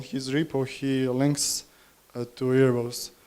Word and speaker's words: Erebos: repo he links to Erebos, saying like you should just use this. So what is Erebos or Erebos, if you wanted to pronounce it the Greek way?